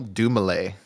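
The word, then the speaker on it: Dumile: great start first word Daniel Dumay that's how you pronounce that there's G to be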